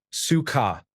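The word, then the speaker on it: сука: Sika pronounced like suka is a Russian curse word.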